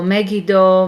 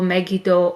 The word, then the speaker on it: Megiddo: the bible it's uh it's spelled the three different ways uh um as you learned today in the hebrew class you can have a the letter used or annoyed and it will sound e so megiddo megito or maggie don with n in at the end okay so that's how